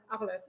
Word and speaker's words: Arlette: Of course, there's a TTE on there. Arlette. So do you don't pronounce the T, right? Yeah. If you do it right, Arlette. Arlette, yeah. You don't Arlette. pronounce the E.